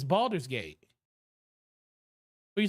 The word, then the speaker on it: Baldur's Gate: whatever let's talk about Boulder's Gate it's Baldur's Gate don't say it like